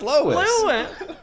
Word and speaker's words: Lois: When I take a look at Lewis Griffin, I feel Lewis?